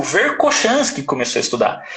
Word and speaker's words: Verkhoshansky: Então isso é uma coisa que o Verkhoshansky começou a estudar. E assim, agora eu estou falando Verkhoshansky, mas tem hora que eu falo Verkhoshansky, né? Porque a pronúncia dele em russo é Verkhoshansky.